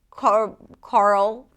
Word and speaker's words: Carl: The reason why it's so tricky is because there is an R sound and then a dark L. And sometimes this combination is challenging for new speakers of English.